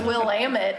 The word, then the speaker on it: Willamette: on a lot she's a quick study about pronunciations it's Willamette I don't know if you knew that Clackamas